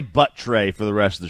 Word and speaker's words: Buttrey: First off, I want to hear this guy's last name, how you pronounce it. Buttrey. Oh, it's Buttrey.